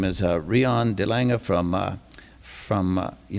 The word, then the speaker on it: Delange: your name didn't I that sounded exactly how it should be the Lang is perfect oh okay okay okay